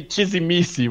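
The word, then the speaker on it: Tzimisce: Simiche. Well, that's a lot different than How it's pronounced in Romanian, anyway. Yeah, Okay. but in Portuguese we say Chizimici, which is bizarre.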